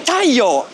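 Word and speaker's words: 太陽: You say, Taiyo.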